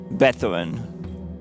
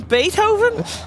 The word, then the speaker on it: Beethoven: static static music with the twist of uh bethin of which TW a what what the composer how do you pronounce his name be okay there we go we want some Beethoven spice it up a bit this is this